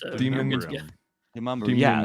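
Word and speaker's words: Demonbreun: Demumbrium?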